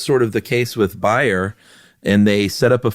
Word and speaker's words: Bayer: No, I'm not German, but that's how you pronounce it over there. It's Bayer. Uh we pronounce it Bayer over here.